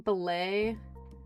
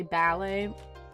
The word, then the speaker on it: ballet: You're saying ballay. You usually say ballet.